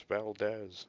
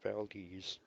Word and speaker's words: Valdez: What's fun is when tourists come up here, they say, oh, it's Valdez. No, Valdez. We live here, we know how to pronounce it.